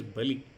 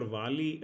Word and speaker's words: Bali: So Rajesh bhai, it is Bali. So there's Bali. another. I mean, some pronunciations for Vali, maybe in the Bengali versions and all, it will be Bali, right?